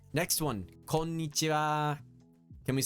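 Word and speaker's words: こんにちは: Konnichiwa. Like I said earlier, it's ha, but it's pronounced wa.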